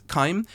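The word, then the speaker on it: chyme: it's time I think but it's c-h-y-m-e I'm gonna assume that's kaim um from some sort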